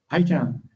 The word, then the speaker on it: Eitan: And I'm not sure how to pronounce his name, Eitan Stib. Eitan.